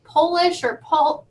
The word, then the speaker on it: Polish: Yes, they can be pronounced differently if you capitalize the first letter. So Polish or polish, job or job, herb or herb.